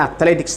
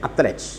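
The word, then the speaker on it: athlete: ഇപ്പോൾ ഇവിടെ അത്ലറ്റിക്സ് എന്ന് പറയും. അത്ലറ്റ് കറക്റ്റ് ഉച്ചാരണം അത്ലറ്റ് അല്ല, അത്ലീറ്റ് ആണ് കറക്റ്റ് ഉച്ചാരണം.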